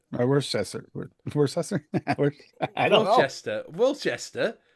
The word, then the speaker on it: Worcester: were contributed don't know what that mean um Tim say Worcester Worchester or worester I don't know Worchester Worchester it's Worcester Worester